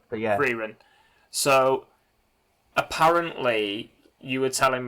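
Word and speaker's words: Frieren: So I've downloaded, please correct me when I say this because I'm going to say it wrong, Freyrin. I think I pronounce it as Freerin, but yeah. Freyrin.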